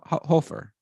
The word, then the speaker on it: Hofer: let's look it up it is hope for if you're German it's like something like that anyway this is German so it's Hofer so the FYI anyway